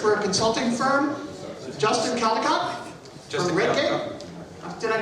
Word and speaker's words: Caldicott: Justin Caldicott from Redgate. Did I pronounce it correctly?